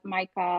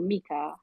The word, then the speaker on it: MiCA: attorneys have concerns about Micah or Mika I mean people sort of pronounce that differently and how that is